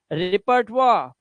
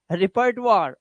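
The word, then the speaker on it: repertoire: इसका रिजर्वार, देखो रिजर्वार, यहां पर इनके उच्चारण वाह हो गए हैं, क्यों, क्योंकि ओ आई के बाद आर आया हुआ है, तो वहां पे वाह लगाना पड़ेगा आपको।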